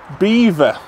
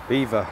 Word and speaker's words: Belvoir: drag you out to Beaver beaver not belir not Belvoir we just looked at it it's definitely Belvoir it's not it's actually pronounced beaver and I thought people